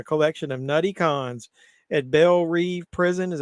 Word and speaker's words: Belle Reve: Super villains Harley Quinn, Bloodsport, Peacemaker, and a collection of nutty cons at Belle Reve Prison, is how you pronounce it, join the super secret, super shady